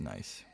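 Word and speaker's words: gneiss: might support a castle I think that's pronounced nice I think I looked that up and it's pronounced nice on closer look they reminded him of a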